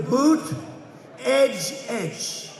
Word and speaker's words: Buttigieg: And they said, here's what you do. Boot, edge. Say edge like the edge of a building. Edge. Boot, edge.